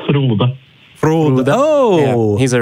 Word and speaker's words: Frode: Frode, how do you say your name? Ah, the same question as last week. It's Frode.